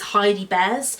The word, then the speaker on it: Heidi Bears: It's not Jamie Crow, that's someone else. It's Heidi Bears.